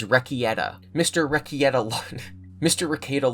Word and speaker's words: Rekieta: You guys made fun of how I pronounced it last time. I get it now. It's Rekieta.